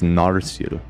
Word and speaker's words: Narsil: I was saying it wrong. It's Narsil. Nar. Not Okay. Nadrasil.